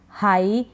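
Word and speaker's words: high: जैसे इसमें है फ्लाइट, लाइट, I के बाद GH है, नाइट, राइट, माइट, site, हाई, टाइट, इन सभी में I के बाद GH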